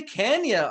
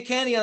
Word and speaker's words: Kania: I have Cynthia Kania on the phone. That's how you pronounce it, right? Yes. Okay, just making sure. Cynthia Kania on the phone, and she played Annette in